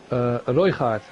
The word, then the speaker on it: Røygaard: Can you pronounce his name again? Røygaard.